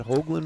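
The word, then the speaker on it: Hogeland: Is that Hoagland, Montana?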